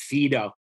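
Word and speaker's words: Phaedo: the best example is in the fedo which the british pronounce fido but the um but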